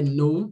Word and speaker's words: know: Tomorrow we will know the truth. Aqui eu já falei que não é know, é no, tá?